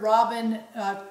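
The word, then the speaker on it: Robynne: And it's interesting, her first name is spelled R-O-B-Y-N-N-E. So some extra letters in her Another name there. For Robin. Another way to spell Robin.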